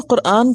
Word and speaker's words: قرآن: نام قرآن ہی ہے، اور صحیح لفظ اور تلفظ کیا ہے؟ قرآن۔ اور یہ خالصتاً عربی زبان